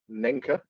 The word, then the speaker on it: Naenka: of our review of the Naenka, or Nenka, to go by the pronunciation of the voice when you turn the earphones on and off.